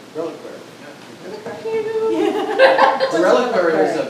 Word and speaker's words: reliquary: Reliquary.